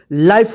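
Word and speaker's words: life: इसको क्या पढ़ेंगे लाइफ इसको लीफ मत पढ़िए या मत पढ़िए वाइफ लाइफ होगा ठीक है ना क्योंकि ई के पहले जो ल आ रहा है आई आ रहा है तो आई का आई उच्चारण होगा और ई का कोई उच्चारण नहीं होगा जैसे य देखिए डब्लू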